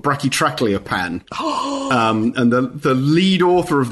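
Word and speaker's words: Brachytrachelopan: And he told me that he designed that name so that you can only really say it properly if you can do the vowel sounds of all three languages. So the idea being it was basically only him who could say it right.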